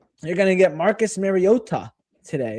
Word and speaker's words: Mariota: But you're going to get Marcus Mariota today. It's Mariota, not Mariota. Mariota is the correct pronunciation which he officially said earlier this year.